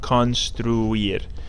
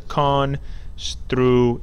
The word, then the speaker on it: construir: Then we have a longer one, you can figure it out, construir, which means to construct or to build. This one has construir, three syllables.